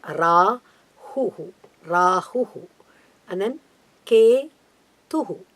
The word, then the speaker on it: Rahu: Ketu Rahu Ketu Allah Oh Rahu that's a correct pronunciation okay rah it's a detail later what we call the long letter Rahu Rahu and then k2